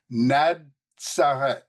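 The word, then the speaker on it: Ναζαρέθ: Now, I know you can't necessarily, maybe you can read Greek, but the pronunciation is given right here. It's NaDSareth. And I want you to notice the D and the Z, and I'll explain to you why in just a minute, of uncertain derivation.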